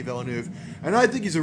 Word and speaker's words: Villeneuve: Yes, I heard it pronounced, and if I'm pronouncing it correctly, it's Denis Villeneuve.